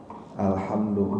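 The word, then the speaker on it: الحمد لله: Alhamdulillah yang pasti pertama kita membacanya dengan Al bukan Al kadang-kadang ada yang Alhamdulillah Qalqalah tidak memantul bacanya Alhamdulillah dan hanya menggunakan hak kecil hak tipis bukan alhamdu mungkin juga ada yang suka baca alhamdulillah kemudian kata kedua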